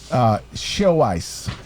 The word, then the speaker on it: Xiaoice: Do you know about show ice?